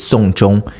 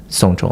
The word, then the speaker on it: 送钟: So in Chinese, yes, gift a watch is 送钟. It's pronounced exactly like seeing someone's death. Like someone died, you take Witness. them to 送钟, like through the whole process of that.